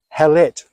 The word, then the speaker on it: Hallett: So the first syllable of the first word, H-A-L, Hal, second syllable of the second word, let, L-E-T-T, Hallett.